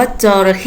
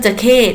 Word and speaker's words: จะเข้: จะ ใข้ จะเข้ เดี๋ยว เรา จะ ไม่ ออก เสียง ว่า จระเข้ นะ คะ จระเข้ จะ เป็น สา ถูก ไหม คะ อ่ะ ถ้า เป็น เครื่อง ดนตรี เรา จะ ออก เสียง ว่า จะ ใข้ จะเข้ คือ จะ ที่ จะ